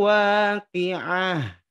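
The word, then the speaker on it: واقعة: Contoh, idza waqa'atil waqi'ati, ya. Idza waqa'atil waqi'ati. Awalnya dibaca waqi'ati, tapi karena ada di ujung ayat, maka Bapak Ibu bacanya idza waqa'atil waqi'ah.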